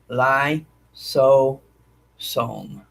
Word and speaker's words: lysosome: notice an organelle it's called a lysosome lysosome is spelled l-i-s-o-s-o-m-e lie so som and what it is it's a compartment that